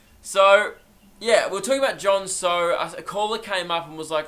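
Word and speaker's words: John So: Yeah, Jon So. And the whole time, I was saying Jon Snow.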